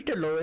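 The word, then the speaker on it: Dhillon: Dillo is, or his name's A.P. Dillon. Okay, but we say Dillo, that's how we pronounce it.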